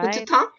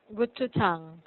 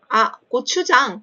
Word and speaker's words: 고추장: Gututang? Gochujang. What is that? Did I say it right? Gochujang? 고추장, 고추장.